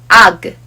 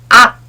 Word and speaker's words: 악: And this sounds like 악. Some people match the final consonant 기역 sound with an English alphabet G or K. But this causes wrong pronunciation for some words. This letter sounds like 악, not ag or ak.